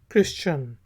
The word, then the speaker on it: Christian: इसके बाद वर्ड है CHRISTIAN, क्रिश्चियन। तो H साइलेंट है, क्रिश्चियन कहेंगे, क्रिश्चियन ईसाई को कहा जाता है।